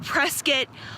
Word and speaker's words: Prescott: and yes I know the locals pronounce it press kit but I grew up on prescott lane and Huntington Beach California